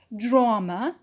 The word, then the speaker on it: drama: and it is stressed drama drama is unknown and the stressed syllable is the first one which is draw drama santa's four the